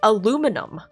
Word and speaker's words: aluminum: Because Brits pronounce it as aluminium. Where does the extra I come from? That's like one of the only examples I can think of where I firmly believe the American pronunciation is more correct than the British pronunciation. That's like one of the few examples. Because the American pronunciation is aluminum, right? Aluminum. Easy. But why do Brits pronounce it aluminium? It's M-U-M. It's N-U-M, not N-I-U-M.